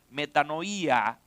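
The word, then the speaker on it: μετάνοια: Ahora, en la teología eh eh bíblica del arrepentimiento, la palabra arrepentimiento es una palabra griega que se pronuncia metanoía, implica un cambio profundo ah de adentro hacia afuera de mente y corazón.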